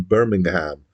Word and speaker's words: Birmingham: short-lived post-punk band from Birmingham England and you can tell it's England when I pronounce it like that rather than Birmingham um uh they existed